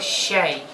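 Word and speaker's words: شاي: Вот, значит, чай в Египте называется щай. То есть они ее произносят с буквой щ с нашей.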